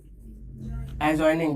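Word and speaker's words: adjoining: एडजॉइनिंग। जहां जहां ए और जे के बीच में डी आता है एकदम उसको साइलेंट कर दो, ठीक है।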